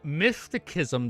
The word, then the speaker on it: mysticism: So, mysticism. The C is pronounced as a S.